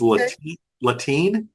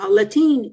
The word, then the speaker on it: Latine: One is Latine. Am I pronouncing that? Latine.